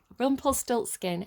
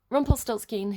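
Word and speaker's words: Rumpelstiltskin: so rumple skill six rumplestilt skin i think believe it's pronounced rumplestilts scat scheme rumplet rumplestiltskin i think is how you pronounce it uh because i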